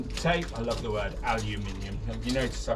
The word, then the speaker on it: aluminium: I love the word aluminium. You notice I pronounce it aluminium, not aluminium. Aluminium, or aluminum for our American viewers.